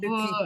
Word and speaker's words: ceux qui: À ceux І, qui, так, і воно ceux qui. в швидкій вимові воно вимовляється як ски.